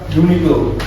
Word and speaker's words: Uniqlo: Selanjutnya, dari sudut pandangan keilmuan HKI, Uniqlo dibaca Uniqlo tanpa jeda.